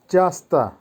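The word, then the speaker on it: часто: উচ্চারণ হবে সিগদা, সিগদা। চাস্তা, চাস্তার অর্থ হবে প্রায়ই।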